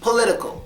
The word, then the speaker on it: political: political candidate one day no that has an accent we would say political I like dealing with